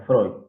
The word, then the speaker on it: Freud: fondo pero bueno bueno mi nombre es freud como estaba pronunciando se escribe pero se pronuncia freud y soy docente en